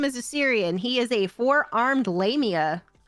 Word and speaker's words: Yserion: It's spelled YSSERION. YSSEON? No, ERION. ERION. Yserion.